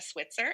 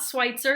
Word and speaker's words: Switzer: I am here with the lovely Becca Switzer. Is that pronounced right? That's right. It's not Schweitzer, Okay, just like Switzerland.